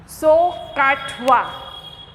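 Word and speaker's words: SOHCAHTOA: Pronounce कैसे करोगे? सो काटवा, सो काटवा.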